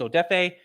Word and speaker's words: Odafe: no we're not doing that my name is odefe you have to get used to pronouncing it i don't care anymore i respect